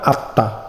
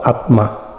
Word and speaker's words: আত্মা: যেমন আত্মা, অর্থাৎ যে বর্ণের নিচে ম আছে সেই বর্ণটা দুইবার উচ্চারণ হবে।